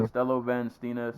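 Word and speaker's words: Costello van Steenis: Costello Van Stenis.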